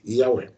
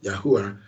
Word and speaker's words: Yahweh: Living Yahweh, we are, pronouncing that tetragrammaton, the YHWH, as Yahweh. You call him Yahuwah. I don't think Yahweh will be angry with you at that, but we must get it right.